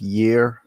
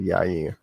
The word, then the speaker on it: Yair: I gotta tell you, there's nothing worse than when Chael Sonnen says year instead of Yair.